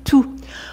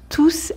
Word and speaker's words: tous: peut aussi être prononcé tout on prononce tous avec un S quand c'est un pronom par exemple dans la